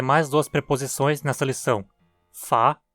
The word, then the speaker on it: fer: Essa preposição é pronunciada quase sempre átona, portanto soando como fa, com a típica pronúncia de um ER átono. Se pronunciada forte, soaria como fea, mas eu realmente não